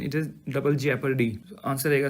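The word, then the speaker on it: jeopardy: article 22 है ये double Jio पारडी double हमारे यहां जिओ पारडी बोलते हैं सब लोग but that is इफ यू से in proper pronunciation it is double जेपरडी answer रहेगा सी नेक्स्ट इज़ नेक्स्ट 173 अंडर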